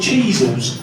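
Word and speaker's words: Cheezels: top of my head, the only word I can think of that rhymes with cheeel is weasel."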